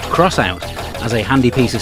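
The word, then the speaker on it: X-Out: Despite appearances, this game is not called X Out. It's actually pronounced Crossout, as a handy piece of speech points out during the animated intro.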